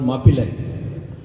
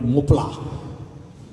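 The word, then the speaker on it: Mappila: And therefore they were called Mapilai, which the English couldn't pronounce, so they called it Mopla.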